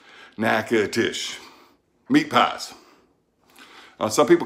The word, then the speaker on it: Natchitoches: way it's reading nakedish just like it sounds naked dish meat pies some people